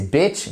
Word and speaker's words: bitch: Bitch, c'est un I court.